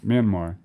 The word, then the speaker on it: Myanmar: Myanmar, right? is that their people, Me and Mark without a K.